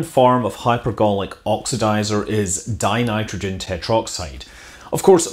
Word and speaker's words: dinitrogen tetroxide: of hypergolic oxidizer is dinitrogen tetroxide of course most people that actually use the stuff choose to save a syllable and they say in nitrogen tetroxide instead even though that's not technically correct the molecule consists of